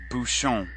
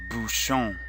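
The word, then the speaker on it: bouchon: Tia Bhushan is a corkscrew repeat after me Bhushan Bhushan shown TL Bhushan teo Bhushan teo Bhushan this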